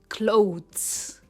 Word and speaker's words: clothes: इसकी सही प्रोनाउंसिएशन है क्लोथ्स, क्लोथ्स। काफ़ी सारे लोग यहाँ पर TH की जगह D बोलते हैं, राइट? क्लोथ्स, वो भी गलत नहीं है, बट द right pronunciation is क्लोथ्स।